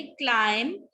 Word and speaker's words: climb: क्लाइम, म पे एंड करेंगे.